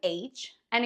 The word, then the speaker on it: Hannah: for example Hawaii hamster if your name is Hannah get ready to be called Han in Spanish how do you